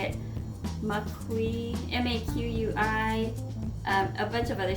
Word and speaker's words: maqui: Maqui, M-A-Q-U-I, a bunch of other stuff, maca, and blueberry powder.